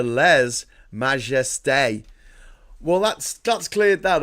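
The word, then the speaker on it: lèse-majesté: It can be pronounced as le majesty or less majesty. The French pronunciation, however, is closer to le majeste.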